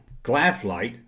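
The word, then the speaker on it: Glasslite: Now, 1988, Glasslight, yeah, that's how you say it, released the official last vintage Star Wars action figure.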